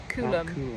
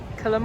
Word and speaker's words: Coolum: how you say it what kulum or kulum why are the keys over there kulum you think colum colum c u l u m it's cool um in um when you're